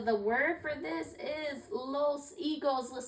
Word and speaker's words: higos: So the word for this is los higos. Let's say it together. Los higos. Los higos. And the H there, you don't pronounce the H in Spanish, okay?